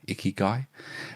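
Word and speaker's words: ikigai: And flow is um and icky is spelled I K I G A I. Icky guy.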